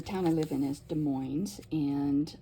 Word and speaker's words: Des Moines: I live in is Des Moines and yes you do pronounce the s in this case and this is just